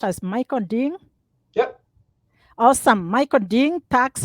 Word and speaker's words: Michael Ding: So his correct name is pronounced as Michael Ding?